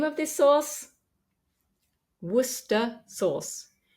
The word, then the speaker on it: Worcestershire: name of this sauce Worster sauce it looks like it has far more syllables than that but we don't pronounce them just wer Worster source so if you're